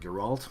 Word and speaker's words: Geralt: this guy here girag Geralt I was gonna need your all but Geralt Geralt yeah that's the name that's how you pronounce it he's kind of good